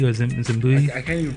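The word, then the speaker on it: Zavimbi: Zavimbe.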